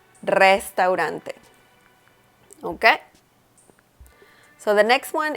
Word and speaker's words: restaurante: So instead of saying restaurante, the correct pronunciation is restaurante, restaurante.